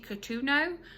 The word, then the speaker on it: Cotugno: So I keep saying Katie Cotugno, but I think the G is silent. So Katie Cotugno or Catriona.